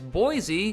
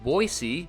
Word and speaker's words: Boise: idaho's biggest city is boise or as the locals say boise which has a metropolitan